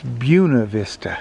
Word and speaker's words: Buena Vista: there's a little town b-u-e-n-a vista and we would say buena vista and they say no it's buna vista buena vista and like